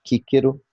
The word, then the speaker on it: Cicero: O C sempre soa como K, kíquero.